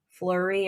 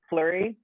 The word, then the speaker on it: Fleury: starts with an f it's like flurry oh fleury yeah yeah um she's like